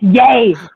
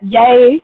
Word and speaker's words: Yea: near yeah or yeah however you pronounce it yay it's yay with let us know about that one it's yay yes it's yay like yay that's what it is yeah like it's even